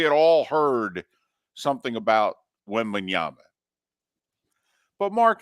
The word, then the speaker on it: Wembanyama: We all knew Wembayama. We knew Wemby. We maybe mispronounced it a year ago this time, but we had all heard something about Wembanyama.